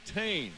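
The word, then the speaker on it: Thain: Moto number one, Rodrik Tain. And we asked him about the pronunciation of his name and he said definitely Tame. Don't pronounce the H anybody.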